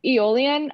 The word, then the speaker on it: aeolian: there by alien transport oh aeolian uh e-o-l-i-a-n sometimes spelled with an at the front if you're british sorry that's right i